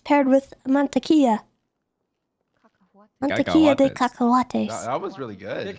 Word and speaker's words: cacahuates: Cacahuates.